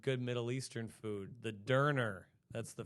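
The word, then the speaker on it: Döner: Middle Eastern food the derer that's the F they it's pronounced derer but it's spelled donor it's derer it's like Shawarma but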